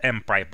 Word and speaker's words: mPyPl: library monadic Python pipeline library which we pronounce as M pipe Oh this demonstration is